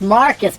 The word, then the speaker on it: Marquise: i needed that brother from marquise pronounced marcus because he's